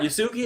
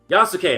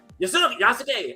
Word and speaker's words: Yasuke: And I'll hear everybody pronounce it differently, and then I'll be so excited when the Asian folks came by and they'd be like, Yasuke. I'm like, that's how you want to say it? I was saying it Yasuki, but they're like, Yasuke. And it'd be like one syllable.